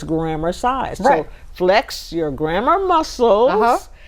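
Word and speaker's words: grammarcise: up one morning with grammar size spelled the same way as exercise g r a m m a r c i s e so it's grammar size so flex your grammar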